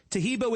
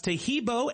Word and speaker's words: Taheebo: Taheebo is spelled T like Tom, A-H-E-E-B like boy. Oh, that's Taheebo, and then continue with the word T, and then the word club.